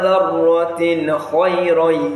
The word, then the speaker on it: ذَرَّةٍ خَيْرًا: فَمَنْ يَعْمَلْ مِثْقَالَ ذَرَّةٍ خَيْرًا يَرَهُ. Did you hear that? ذَرَّةٍ خَيْرًا ذَرَّةٍ خَيْرًا ذَرَّةٍ خَيْرًا. So that is ذَرَّةٍ خَيْرًا. You see the n sound produced clearly. فَمَنْ يَعْمَلْ مِثْقَالَ ذَرَّةٍ خَيْرًا يَرَهُ.